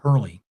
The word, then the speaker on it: Hurley: Not Harley, but Hurley.